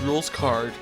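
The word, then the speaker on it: Rouxls Kaard: proceed the puzzle is made by none other than rules card pronounced rules card he has created a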